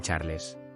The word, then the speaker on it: Charles: fijando mi mirada en Charles eres tan atento querido esposo respondió ella Charles pronunciado a la francesa charl me parecía el típico